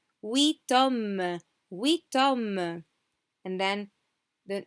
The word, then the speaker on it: huit hommes: And here, remember, when we said huit panthères, we didn't pronounce the T. Now we pronounce it. Huit hommes, huit hommes.